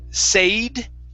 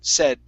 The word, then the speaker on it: said: you right here okay instead of a long a sound sayed okay uh it's not going to be a it's a short e e try that said said good all right